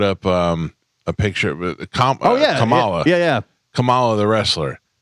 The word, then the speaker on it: Kamala: president and they also they call kamla camela like that's the thing like you're so smart but you don't know how to pronounce somebody's name I don't were you